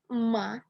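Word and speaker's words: 麻: Nada kedua bacanya ma, artinya rami atau tali.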